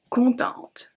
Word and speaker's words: contente: Another way to say happy in French is content, contente. Content, contente. So here we just add a E, which means that we are going to pronounce the T in contente.